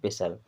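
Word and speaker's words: pestle: इसे पढ़ते हैं पेशल यहां पे पी ई एस टी एल ई लिखा है लेकिन यहां पे टी साइलेंट होता है इसे पढ़ते हैं पेसल पेसल मींस होता है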